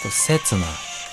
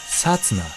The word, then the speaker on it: Satsuna: Satsuna. Satsuna. Not Setsuna. Satsuna.